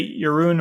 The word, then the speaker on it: Jeroen: in the area of multi-cloud and hybrid Cloud yurun welcome to software engineering radio thank you very much and compliments for pronouncing my name for being non-dutch I do